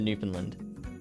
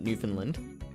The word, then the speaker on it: Newfoundland: Lily Bear has a very good friend that lives there, so that's why we're going to Newfoundland. And she's also trained me. She's instructed me to pronounce it Newfoundland.